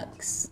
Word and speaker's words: Canucks: I'm just going to reattach everything back together, and we're going to do an Canucks. inset. Rhymes with ducks.